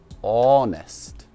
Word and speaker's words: honest: честному давай будем честными и так слове честный мы не произносим первую эйч это просто он ест он ест он eastward